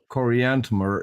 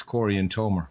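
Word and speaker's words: Corianton: one of the names Cory aner is probably our two people it's Corey and toer when you meet someone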